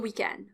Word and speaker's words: weekend: just one word bon weekend boom weekend end is the stressed syllable here it's longer weekend one weekend and we're